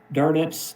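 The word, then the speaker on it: Dönitz: And here is Admiral Carl Dernets is the way that he pronounced his last name.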